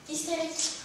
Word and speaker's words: hystérique: Hystérique. Très bonne prononciation.